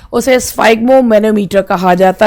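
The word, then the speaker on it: sphygmomanometer: अब पहला जो वर्ड है, पहले तो इसका प्रोनाउंसिएशन देखिए, स्फाइगमोमेनोमीटर।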